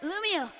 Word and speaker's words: Lumio: That's right, Lumio. Pronounced like Romeo, but luminer. But more lumin.